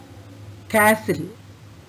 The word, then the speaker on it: castle: knife night K silent you listen castle toy is silent here s pal P and